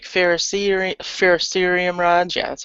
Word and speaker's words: ferrocerium: it yeah um I usually order like Pharisee ferrocerium rods yeah that's how you say it um